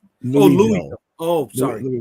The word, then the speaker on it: Louisville: It's Louisville, right? It's out thin. Louville is actually how it's pronounced. Louville, dude.